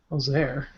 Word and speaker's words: Ozer: pronounced Ozar. Ozer. Ozer, there you go.